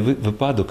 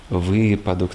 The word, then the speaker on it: випадок: Тобто вони можуть опрацювати 200 найтиповіших слів, де найчастіше ми помиляємося не випадок, а випадок, так, не фольга, а фольга,